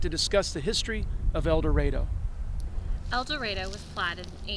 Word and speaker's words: El Dorado: means golden land and certainly in some parts of the united states they pronounce it el dorado but here we call it el dorado so tonight join us